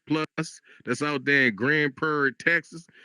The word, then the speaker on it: Grand Prairie: Grand Prair, you got to say it like that. You got to say Grand Prairie. See, that's how they know if you're a local. If you if you just say Grand Prairie like a regular person, they be like,